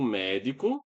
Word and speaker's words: médico: O médico, ó, o acento aqui, tá? Médico, chegou. Perceba que nós temos a palavra médico aqui, tá? E a sílaba tônica é essa aqui, ó, onde tem esse acento gráfico aqui, ó, o me.